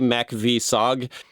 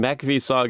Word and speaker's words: MACV-SOG: I don't know if there's a way to pronounce this acronym. Give it a try. Yeah, I'm going to try. I would say MACV-SOG.